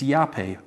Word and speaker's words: yapeh: It's yapeh. We'd spell that in English, Y-A-P-E-H.